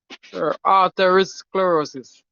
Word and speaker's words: arteriosclerosis: Arteriosclerosis, if a pronunciation properly.